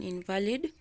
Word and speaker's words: invalid: nearly 6 months yeah after the accident he was an invalid for nearly 6 months so we're going to stress the first syllable in valid yeah so you